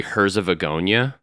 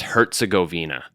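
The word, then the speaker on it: Herzegovina: I said uh the country Herszagonia mispronounced that it's Herzgoina.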